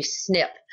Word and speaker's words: SNP: It's pronounced a snip.